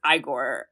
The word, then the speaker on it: Igor: It's pronounced Igor, actually.